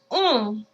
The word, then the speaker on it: on: That one's very closed, but it's very much in the nose. Okay? In English, pronounce the word on, which actually is a nasal vowel as well. However, we pronounce the N. You see the difference there? Keep the same shape in your mouth and purse your lips as if you're looking at fireworks and you're saying ooh, ooh.